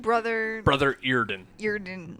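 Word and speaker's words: Eardon: Earden, like EAR. D-O-N.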